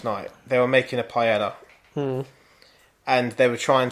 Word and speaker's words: paella: off it's paella in Spanish it's probably know to